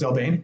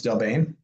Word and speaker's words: Del Bene: And then for food service in Detroit, Delbane. If you didn't know it's pronounced Delbane, it's Delbane.